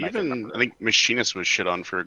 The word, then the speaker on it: Machinist: Oh, the mechanist? I don't know. I don't see a mechanist being the next tier job to me. Sorry, Scuro. Why are you pronouncing it that way? It's the Machinist.